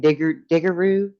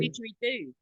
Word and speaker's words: didgeridoo: I love all of those old horns that they used to use for stuff, like how you say it, diggeroo? Is it a Oh, diggeroo? didgeridoo.